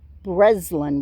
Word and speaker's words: Breslin: It's pronounced Breslin with a Z.